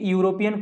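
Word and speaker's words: European: question है Italy is यूरोपियन country अब देखो जो इटली इज यूरोपियन कंट्री जो यूरोपियन वर्ड है बेटा वो ई से स्टार्ट हो रहा है लेकिन इसका जो उच्चारण है वो यू जैसा है है ना यू क्या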